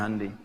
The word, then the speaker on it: Hyundai: Hyundai bacanya Hyundai.